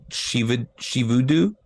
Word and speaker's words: Shivudu: Yeah, on IMDb it's spelled to sound like Shivudu.